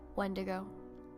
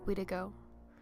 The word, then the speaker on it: Wendigo: Algonquin, Ojibwe, and Innu, the spelling and pronunciation of the word Wendigo differs. Wendigo, Widigo, Wendigo, Winsigo, Widigo, and Witika are all alternative versions of the same term.